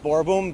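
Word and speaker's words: Boerboom: yes all right oh my name is Scott borom last name is spelled b o e r b o o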